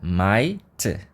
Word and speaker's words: might: i g e t mas a gente só fala e o GH a gente não fala a mesma coisa acontece aqui no Might a gente fala Might OK depois por último temos